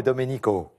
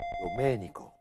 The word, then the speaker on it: Domenico: Et pour vous, Stefano et Domenico. Domenico. Ah, parce que j'ai notre ami Olivier, que vous connaissez bien, le numéro magique, c'est le numéro 10. Qui me reprend sur l'accent tonique. Domenico.